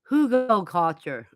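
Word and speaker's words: Hugelkultur: Pronounced Hugo culture.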